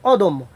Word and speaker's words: অদম্য: এরকম আমরা বলতে পারি অদম্য, অদম্য, অর্থাৎ বানানো হচ্ছে অ দ ম জফলা, আর উচ্চারণ হবে অ দ ওকার ম হসন্ত ম ওকার, অর্থাৎ অদম্য।